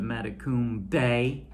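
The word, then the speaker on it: Matecumbe: is treasure of matakumbe which we learned the pronunciation of mata kum bay you know treasure of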